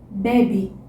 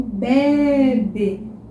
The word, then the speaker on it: bebe: Agora, se eu tirar o acento circunflexo, a palavra vira bebe, que é uma conjugação, ou se você quiser pronunciar muito redondinho, bebe, ok?